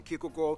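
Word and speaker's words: Kierkegaard: author hans christian andersen philosopher kiko or whether that's actually pronounced his name wow it's not soaring cure no not not quite there you could have been closer you're so close but not right quite there guard or whether it be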